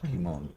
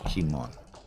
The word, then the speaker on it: Kimon: We've been corrected. It's not Kimon. Yeah. The Greek guys explain that it's Kimon.